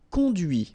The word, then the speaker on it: conduit: And that's when you hear the difference between conduit, because remember, final T is not pronounced, conduit, here, and then the feminine, conduite. Okay, so here you can listen to this t, t, okay?